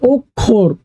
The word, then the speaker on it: অক্ষর: এখন বলছে ওখোর ওক ওখ খোকার খো খোর। খোর তাহলে এখানে ওখোর উচ্চারণটা হবে ওখর।